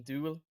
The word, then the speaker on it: duel: You uh You mean duel? That's what I said. Uh no, you pronounce it with a yu, not a ooh sound.